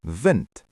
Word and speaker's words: wind: Remember, in Afrikaans, a W makes a V sound. V, wind.